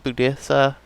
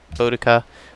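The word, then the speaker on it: Boudicca: Hawatha Budisa. I keep saying Budisa. I think it's Bodica. Bodica. And somebody told me I was stressing the wrong syllables.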